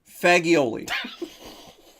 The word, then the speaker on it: fagioli: Fagioli. Fagioli is what it's called, because that's how it's spelled.